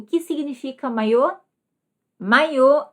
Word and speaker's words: maiô: Com acento, maiô. Esse acento circunflexo mudou a pronúncia, o som, e mudou também o sentido.